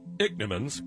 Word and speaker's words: Ichneumons: Ichneumons, pronounced Ichneumons.